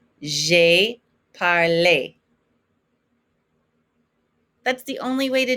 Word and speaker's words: parlé: Make sure you're pronouncing that accent aigu. It's an A sound. J'ai parlé.